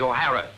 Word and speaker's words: O'Hara: do you remember saying my name is not for horror it is o'hara here mr o'hara yes